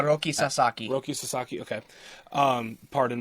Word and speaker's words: Roki Sasaki: about done with pitching but they're looking at Roy sasaka MH I think that's how you pronounce his name H Roki Sasaki Roki Sasaki okay um paron my ignorance on